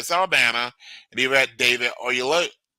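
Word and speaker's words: Oyelowo: You've got Zoe Saldana and you've got David Oyelolo. Oyelolo. There it is. Okay. Oyelolo. I actually watched this pronounce his name a little bit ago on YouTube because I wanted to give respect to it.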